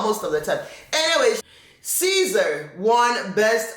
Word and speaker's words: SZA: to pronounce another name Caesar I usually just said I usually just call her as uh s Za a it's easier for me to say s Za than to say Caesar the the abbreviated names